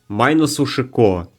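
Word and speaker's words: マイナス思考: "-45" comes from the Japanese term for "negative thinking," which is pronounced "mainasu shikou." When you read this phonetically in Japanese, it sounds like "minus 45," hence the name -45.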